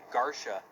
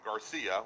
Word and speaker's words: Garsha: Thanks, Tom Madsen, for helping us with the pronunciation. Brian Garsha is in 8th place right now in that Dodge Challenger. Sorry about that. Yeah. I called him Garcia.